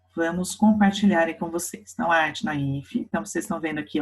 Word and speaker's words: naïf: Então, olha lá, como eu falei para vocês, ó, o naif ele tem um trema em cima do I, a gente pronuncia naif, tá? Naif, como um V, porque é uma palavra francesa, de onde surgiu, né?